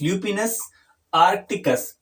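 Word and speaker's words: Lupinus arcticus: तो इसकी स्पेलिंग मैं बोल देता हूँ, LUPINUS, ल्यूपिनस आर्कटिकस, ARCTICUS इसका साइंटिफिक नेम है।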